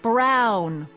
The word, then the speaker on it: Brown: Emmett Brown. Rhymes with clown, which I'm beginning to think you are.